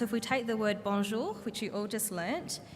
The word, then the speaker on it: Bonjour: the rule is that if there is a vowel before an N or an M you make the vowel nasal without pronouncing the N